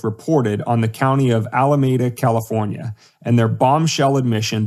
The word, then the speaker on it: Alameda: And I probably pronounced that wrong. Alameda. Anyway, 25%. No, Alameda's right.